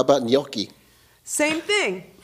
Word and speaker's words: gnocchi: How about gnocchi? Same thing, right? You don't say gnocchi. It's got a little G in there, a little gnocchi.